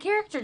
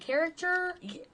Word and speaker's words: caricature: We had a prom king and queen, and they had character drawings. Is it caricature? I can't pronounce it right.